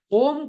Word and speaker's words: ओम: तो व्याकरण में आप अगर देखोगे तो व्याकरण में ओम जो होता है ओ प्लुत और म हलंत होता है। तो इसका उच्चारण होगा ओ 3 सेकंड के लिए और म आधे सेकंड के लिए।